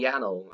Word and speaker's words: Yaddle: Y-A, it's like paddle with a Y. Oh, Yaddle, okay.